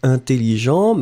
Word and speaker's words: intelligent: You just add E in the end, and you get intelligente. Hein? So, intelligent, masculine, intelligente, feminine. Remember that the first EN, it will be a nasal, so for the pronunciation, it's really un.